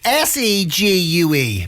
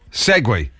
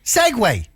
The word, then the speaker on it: segue: See gu. Pronounce that. Segue. Is it? Is that what that is? Seg gue. Segue. You're right. You should have written it down. It is segue, isn't it?